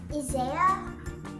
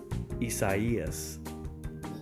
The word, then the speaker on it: Isaias: okay here we go isaiah isaiah what if i told you it was spanish would that help no no no not at all all right so both of you the correct pronunciation is isaias there is literally no